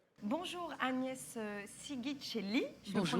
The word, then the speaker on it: Sighicelli: Agnès Sigicelli, je le Bonjour. prononce bien? Non, ça marche. Ça marche. Pas besoin de la Bravo pour la prononciation. Sigicelli, merci.